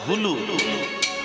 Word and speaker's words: হুলু: আগে উলু না, উচ্চারণটা হবে হুলু, উলু নয়।